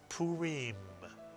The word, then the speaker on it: Purim: The first syllable is pu, and the second syllable is reem, mitsuyan. The resh with the Heereek followed by a final mem is reem. You put the word together and you get Purim, Purim.